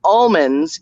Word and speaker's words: almond: They pronounce it almond. They don't pronounce the L.